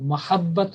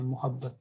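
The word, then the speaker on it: مَحبت: پر یہی کہتے ہیں محبت، لیکن اصل جو لفظ ہے وہ میم فتحہ کے ساتھ۔ یہ جو 19 الفاظ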